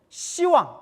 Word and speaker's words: 시왕: 근데 원래는 10왕인데 10왕 하면 이제 뭐같이 느껴져요? 발음이 욕같이 되니까 십자라는 발음을 시라고 이제 이렇게 발음을 부드럽게 이렇게 바꿔서 시왕이라고 하는 거예요. 그래서 10분의 왕이 있는데 10분의 왕 중에서 대표적인 왕 염라대왕이 5번째 왕이래요.